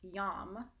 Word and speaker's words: YAM: It's YAM, and it's pronounced YAM, not yam.